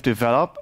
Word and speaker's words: develop: I know, I learned it in French first, so I said develop instead of develop.